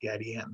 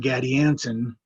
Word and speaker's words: Gadianton: Catilina and Gadianton are both four-syllable words with similarities in each syllable. First syllable, cat and gad, have the same vowel sound and the same mouth position for both the leading and ending consonants, cat, gad. Second syllable, both names have the letter I, which makes slightly different sounds, I versus E, Catilina, Gadianton. Third syllable, stressed in both names, both end with the consonant N, Catalina, Gadianton. Fourth syllable, both have the